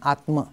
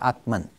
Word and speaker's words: Atman: And Atma becomes Atman.